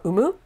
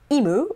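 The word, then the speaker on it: 生む: It's not always pronounced I. It's not imu or imimas. It's umu or umimas to give birth.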